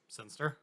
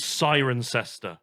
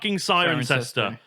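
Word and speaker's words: Cirencester: This one annoyingly is Sirencester. Oh god. But it looks like it should be, if you go by the logic of everything else, it should be Sunster or Sinster. No, it's still just Sirencester.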